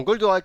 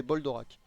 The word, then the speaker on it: Goldorak: C'est-à-dire que je regardais Goldorak, je ne savais même pas prononcer le nom, je disais Boldorak.